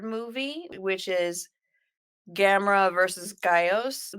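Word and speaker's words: Gyaos: Then after the third movie, which is Gamera versus Gaios, they pronounce those birds' names differently. I'm going with the one from our movie today. Our movie, yeah. We Our gotta go movie. Geos, baby.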